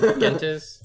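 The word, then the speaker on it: Gentes: If you trust the publisher, the G is pronounced the same as Gaffer. Gaffer. See, I so can't. Gentis.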